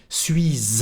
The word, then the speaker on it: suis: J'y suis allé plusieurs fois, j'ai de la famille là-bas. Suis, plusieurs, you don't pronounce the letter S at the end. Fois, same thing here.